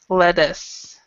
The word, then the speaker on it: lettuce: And this with the two T's, usually if it's a 2T, it's a D sound, lettuce.